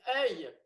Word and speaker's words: œil: The way you read it, it's like it sounds like bloody oil. It looks like oil. It should be said oil. And it's œil.